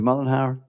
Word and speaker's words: Mullenhire: Am I pronouncing it Mullenhire? That's perfect. Thank you.